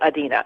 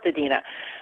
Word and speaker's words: Adina: not mispronouncing it because that's how my grandmother pronounced it Adena and it's a family name and it's pronounced Adena but then my mom wanted to make it